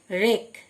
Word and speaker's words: wreck: রেক, WRECK রেক, W silent মানে ধ্বংস করা।